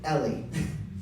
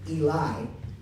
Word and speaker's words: Eli: pronouncing my name correctly because I have been called Ellie even when I show you Eli I have been called